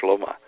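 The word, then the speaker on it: שלמה: Now, in the Bible, for instance, in Hebrew, Solomon is called Shlomo, which is a long way from saying Solomon.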